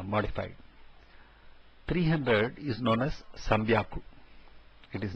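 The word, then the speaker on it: 三百: 300 is known as Sambyaku. It is not Sanhyaku, but Sambyaku. 600 is Ropyaku. Instead of being Roku Hyaku, it is Ropyaku. And similarly, Hachi Hyaku, that is 800, has become Hapyaku. Sambyaku, Ropyaku and Hapyaku are the three which have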